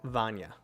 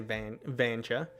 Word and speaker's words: Vanya: My wife's name is Vanya. But I could see how people would say Vanja because they've never seen the name before.